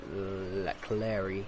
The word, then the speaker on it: Leclerc: And Leclerc has... yes, that's how you pronounce that.